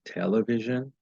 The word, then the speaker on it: television: For instance, when an English speaker says the word television, he puts stress on the first syllable, raising her voice in pitch.